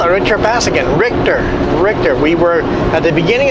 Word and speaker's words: Richter: Richter.